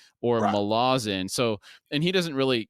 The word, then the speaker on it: Malazan: prologue and book one chapter one I was pronouncing it Ma Lawson not malazin I went back and did some due diligence and listened to an interview with Stephen Erickson he in fact does say malazin now the confusion came because some of his